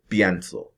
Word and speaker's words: pienso: And just to be sure, this IE stem change, make sure that you pronounce as if it's one syllable, right?